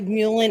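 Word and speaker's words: mullein: everybody says it different it's like mulen it's not even it's not mullen because that was my maiden name it's like a different way to say it will spell it here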